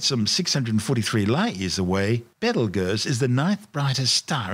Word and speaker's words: Betelgeuse: sting on orion's shoulder currently known as battlegrounds and commonly referred to by the public as beetlejuice don't say it three times the names of birth tortured mispronunciations of the original arabic name iptalyaza meaning the hand of the big man the big man being orion the hunter located